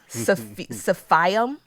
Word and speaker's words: Silphium: Silphium. Silphium. Silphium. It's pronounced Silphium.